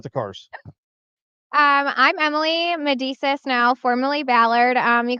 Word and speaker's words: Medesis: yep so say your last name for me medisa you said it right okay I said it